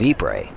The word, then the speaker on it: Ypres: Another one is the Battle of Ypres. It's not Ypres at all. It's Ypres, but it's spelled Y-P-R-E-S.